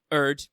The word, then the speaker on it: Urd: Anyway, the 3 Norns, Erd, who I'm continuing to write and say that way because it's 3 letters and 1 syllable, meaning fate, Verthandi, meaning